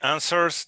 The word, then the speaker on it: answers: Again, the pronunciation of the final S is z, like a mosquito flying, because answer, there is a vibration of a vowel chords here. There is vibration, you pronounce answers.